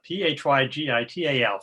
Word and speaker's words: phygital: So meetings are going to need to be P-H-Y-G-I-T-A-L, phygital.